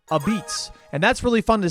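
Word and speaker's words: apizza: New Haven style pizzas are called this which looks like a pizza but really it's pronounced a beets and that's really fun to say and I will say it a lot in this video.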